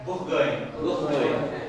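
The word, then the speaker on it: Bourgogne: And the Burgundians, এই যে বুরগুন, তার কি উচ্চারণ করে এটা? বুরগুইন।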